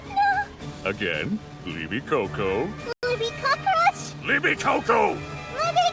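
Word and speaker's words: Libicocco: say to Earth Mr Libby larachi your pronunciation deeply offends me liby Coco say it like liby coconut try again just know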